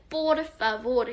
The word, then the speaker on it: por favor: 된 소리가 굉장히 많기 때문에 por favor 이런 식으로 발음하셔야 되고요.